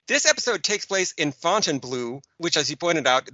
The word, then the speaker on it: Fontainebleau: This episode takes place in Fontainebleau, which, as you pointed out, they all weirdly pronounce Fontainebleau.